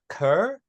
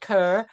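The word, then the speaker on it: Cœur: me guessing um but I believe you pronounced this ker um and it's translated to heart I did get the translations this time so it's called ker which translates to heart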